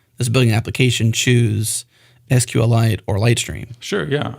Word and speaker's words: SQLite: use case then for I'm going to say it like uh like Richard hip says which is sqlite uh I'm not sorry to correct you guys on that because that's what he said sqlite he's not here right